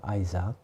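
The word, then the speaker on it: Isaac: 미국에서는 어 이삭을 아이 스 하기 라고 이렇게 발음 하더라구요 아이삭 그래서 어정 아 우리 아이 자 이렇게 발음을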